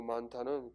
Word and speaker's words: 많다: 그리고 많다는 긴 소리입니다. 이 많다가 장음이었는데 왜 이걸 물어볼 수 있냐면 표준발음법의 긴 소리에 대한 항목의 예로서 많다는 원래 긴 소리인데 얘가 두 번째 음절로 가서 수많은 하면 짧아진다.